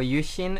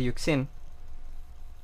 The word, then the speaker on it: YuXin: Entonces, siempre la gente me molesta que digo Chi en lugar de decir Kiji o que digo Yushin en lugar de decir Yuxin.